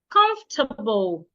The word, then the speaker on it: comfortable: Comfortable. It's not comfortable. The O and the R should not be said. Comfortable.